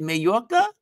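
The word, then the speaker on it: Mallorca: I can eat away oh there's there's my pronunciation t Maya is that how you say it mayoka really ah thank you mayoka ah thank you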